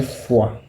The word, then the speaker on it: froid: J'ai froid. Froid is cold. Froid. Froid. The R is silent. Pronounce something like froid.